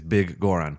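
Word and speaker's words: Biggoron: you been calling yeah I think it was bigger on for the longest time yeah no it's it's big Goren but gore on sword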